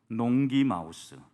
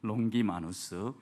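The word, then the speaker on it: Longimanus: 왕 이래가지고 라틴어 도 농 기 마우스 농기 마우스 가 아니라 마누스 이 발음을 잘 했습니다 농기 마누스 이렇게 그 라틴어로 긴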